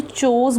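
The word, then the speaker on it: chose: और यहाँ पे एक वर्ड दिया हुआ है ये वाला, इसको मैंने चोज़ बोला है, चूज़ नहीं बोला, ये चूज़ की सेकेंड फॉर्म है तो प्रोनाउंसिएशन चेंज होती है, इट इज़ चूज़, चोज़, चोज़न.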